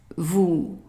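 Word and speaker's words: vous: word here and again here is an s that is not pronounced we have an o u how would we pronounce that right ooh so how how would we pronounce the whole thing correct Vu Vu so that is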